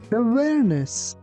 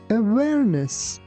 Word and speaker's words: awareness: You be careful that pronunciation of letter W is not like V.